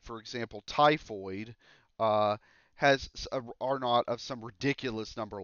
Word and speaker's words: R naught: people are talking about this number here called are not so for some reason even American mathematicians adoptive sort of the British pronunciation for a subscript of zero we call